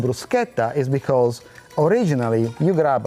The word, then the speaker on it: bruschetta: Bruschetta. Bruschetta. No, bruschetta. Not bruschetta. Bruschetta. Okay. Don't say it wrong at home.